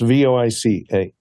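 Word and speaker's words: Voicemeeter: It's VoiceCemeter, as in meet you in St. Louis. So it's spelled a little bit funny.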